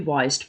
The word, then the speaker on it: Wiest: So it says, and it's by a lady called Brianna, I think you pronounce the name Brianna West, even though it's spelled Wiest. It might be Weist, but again, I'll link her Instagram.